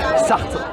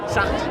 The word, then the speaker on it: Sarthe: Sarthe. Sartre. Ouais. C'est comme Jean-Paul Sartre. Non, c'est pas comme Jean-Paul Sartre. Jean-Paul Sartre, t'enlèves le R de la fin en fait.